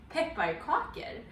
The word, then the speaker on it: Pepparkakor: Pepparkakor.